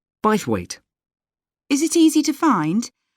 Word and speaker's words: Bythwaite: do you spell that b y t h w a i t e bite weight is it easy to